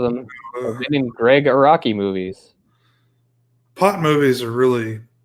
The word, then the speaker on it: Araki: Araki. Yeah, Araki. We were saying it wrong.